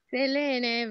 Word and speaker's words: Selene: Selene, the correct pronunciation is Selene. It's a Greek name and means moon.